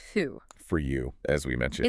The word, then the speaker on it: thou: And thou, T-H-O-U, pronounced thu.